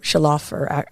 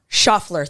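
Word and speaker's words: Schauffler: get into it and for pronunciation it is I think um Shafer or I'm sorry sh you got me on the spot schaffler schaffler thank you shofler all right so Florence schaffler there it is I'm trying to put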